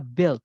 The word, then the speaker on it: build: verb 1 nya adalah build pakai D build bacanya build ya punya hilang kalau dibaca nah artinya build itu